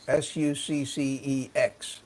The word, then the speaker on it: SucceX: They have the however you pronounce Sussex, Succex is how they.